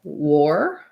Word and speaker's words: war: But then when I come to a word like war, that one does have the OR sound. The letter E makes the O say its name. That rule doesn't always apply. In this case, it does. So war is more like or, for, ignore, store, having that same sound.